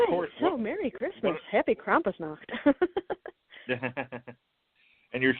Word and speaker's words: Krampus: people make so or so Merry Christmas Happy Krampus now and you're saying it correctly good job